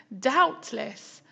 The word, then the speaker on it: doubtless: Okay, group C, blameless, bottomless, doubtless, heartless. Look how doubtless is spelt there, it's got silent B.